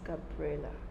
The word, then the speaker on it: Gabriela: It's the same spelling, but it's pronounced Gabriela. So the Gabriela we've been calling all the while. It's the wrong pronunciation.